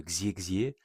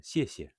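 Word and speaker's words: 谢谢: Donc par exemple X ne va pas se prononcer X, il va se prononcer plutôt pour dire merci par exemple, on dit pas Xier Xier, on dit siè.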